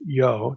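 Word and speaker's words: יו: The writer or editor creates the impression that the divine name short form yo here yw. And without getting into historical Semitic linguistics as to why that was pronounced yo just again I'll say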